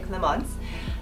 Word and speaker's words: Clemence: It's spelled Clemens, but since I'm bougie, I say Clemence.